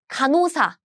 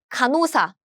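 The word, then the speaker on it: 간호사: nurse in Korean is kanusa kanusa this this we have nasal sound right and here they meet and this song is gone this H sound is gone so the pronunciation is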